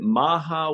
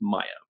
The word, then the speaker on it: Maja: because we weren't sure, is it Maja, is it Maha, what is it? They said it was Maya, pronounced Maya Burvillo.